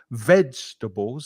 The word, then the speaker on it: vegetables: no let's start here vegetables has to stress on the first syllable vegetarian Vega oh no